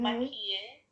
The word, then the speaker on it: maquille: maquille. Remember, there's no accent on the final E.